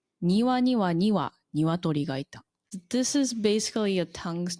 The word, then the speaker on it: 庭には鶏がいた: 庭には鶏がいた.